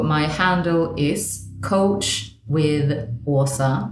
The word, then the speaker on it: Åsa: So my handle is Coach with Åsa. It's spelled ASA.